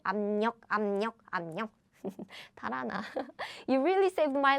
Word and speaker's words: 압력: meeting the nasal sound, so it becomes 압력. So this is how Korean people pronounce it. Plus again, this happens very naturally. So air blocking sound and these real sounds coming together. So Korean people now naturally we just pronounce it like nasal sounds, as in 압력, because both of them